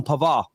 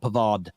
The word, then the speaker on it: Pavard: reached an agreement on pavar I've been told by French people it's pavar not pavard they don't pronounce it D I don't know whatever